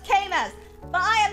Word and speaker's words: Camus: Obviously, I know it's Camus. But I am not Sisyphus, okay? I've neither escaped death. Well, actually, yes, I have. I am no tyrant! Well, actually, I may be. It's pronounced Camus.